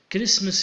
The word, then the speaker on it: Christmas: Christmas here, for example, the T is silent letter. We write it, but we do not pronounce it.